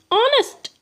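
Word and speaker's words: honest: क्योंकि H like are इसमें एच जो है वो साइलेंट होता है। सेम एज ऑनेस्ट इसे हम ऑनेस्ट नहीं पढ़ते हैं दोस्तों। इसे हम ऑनेस्ट ऑनेस्ट पढ़ते हैं। अ प्रोनाउंस होता है। अ प्रोनाउंस होता है। इसीलिए यहां पे हम इनके सामने एन का यूज़ करते हैं। क्योंकि इसका साउंड ओ जैसे होता है।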